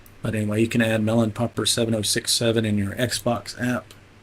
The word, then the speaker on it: Mellonpopr: It's pronounced Melon Popper.